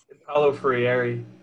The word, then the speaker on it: Paulo Freire: freire do i say his name right it's hello free okay and then also learning to listen learning